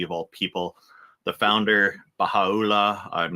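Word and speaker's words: Bahá'u'lláh: The founder, Baha'u'llah, I'm not sure if I'm pronouncing that right. Baha'u'llah.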